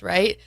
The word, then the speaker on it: Wright: My last name is Wright. It looks like Rate It, but it's pronounced Right.